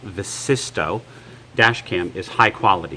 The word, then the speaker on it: Vsysto: Right out of the box, I can tell you that this Vsysto, and that's pronounced Vsysto, dash cam is high quality.